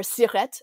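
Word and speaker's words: SIRET: get a CIRE number, or CIRET, I think you pronounce the T, and you have to have that number to freelance.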